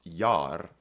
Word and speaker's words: ge: It's pronounced y and it's where we get the modern word your sort of like in in days long ago. So this is y in your days.